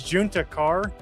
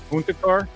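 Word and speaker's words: Juntakharr: But it was uh it was Juna Carr. Um which was a Star Wars name and you kept pronouncing it Hispanic because of Texas.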